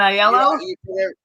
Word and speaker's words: Aiello: and casting director aello how do I pronounce it Danny aello iello you did it right Mr star there you